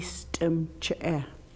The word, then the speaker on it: stemche: Stemch, Remember, all the E's are always said and at the end of a word like that, it is not silent. It is always pronounced or voiced. Stemch, The I is always E.